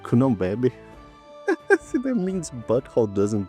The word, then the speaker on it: Cunhambebe: Wait, it's pronounced Cunhambebe.